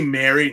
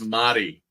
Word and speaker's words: Mari: Well, isn't it supposed to be Mary? No, it's Mari. Mari. Like again, this is how they say it.